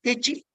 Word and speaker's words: deqi: Now, this is what I was telling you, the Techi, spelled as Deqi, pronounced as Techi.